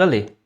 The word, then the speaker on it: allé: Mas na pronúncia, pelo que eu entendi, é tudo aller. A pronúncia é a mesma para todos. Aller, aller, aller. Ils sont allés, elles sont allées, eles foram.